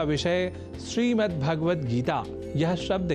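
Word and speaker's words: श्रीमद्भगवद्गीता: यह शब्द ही है जैसा कि मैंने उच्चारण किया श्रीमद् भगवत गीता जिसे अनवत वश हम श्रीमद् भगवत गीता या श्रीमद् भागवत गीता या भागवत गीता कर जाते हैं जो सर्वथा अशुद्ध है इन उच्चारण में स्वर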